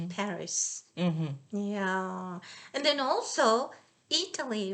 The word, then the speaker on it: Paris: paris everybody please remember it's paris not party we don't say s in this case okay so everybody says party not paris yeah and then also